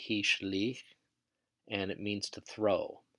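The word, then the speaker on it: השליך: Next we have the root shin lamed kaf, which only appears in the Hitfield, and it's pronounced hishlich, and it means to throw.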